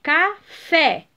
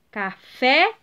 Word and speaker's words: café: e a outra aqui café café é última sílaba tônica então pintar de verde a